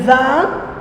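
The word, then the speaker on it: vingt: Et maintenant c'est le 20. 20, attention, je ne prononce pas le G et le T.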